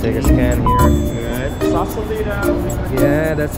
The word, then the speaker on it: Sausalito: So solito.